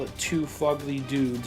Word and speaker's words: Phogly: we call it too fugly dudes it's not it's fugly look at the way it's spelled and you'll get it